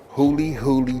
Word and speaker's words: Huli Huli: nothing about it listen it's pronounced hully hully chicken and guess what folks